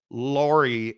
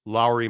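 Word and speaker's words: Lauri: um published a story because I mispronounce Lori and I don't say Lowry marinin the proper pronunciation is Lowry marinin it's proper pronunciation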